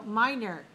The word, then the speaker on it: minor: So minor dot in the middle. 1 dot means 2 syllables, minor. And the stress is on which syllable? First or second? First. First syllable. So we have 2-1, minor.